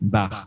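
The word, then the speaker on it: бар: Bar, voilà, c'est ça. Bar, tout à fait, bar, exact. Et là, voilà, donc chaque lettre se prononce, bar, il n'y a pas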